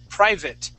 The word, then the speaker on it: private: Our next word is private. Private. Private. All right. Private. We're going to practice. Let's practice that V sound here.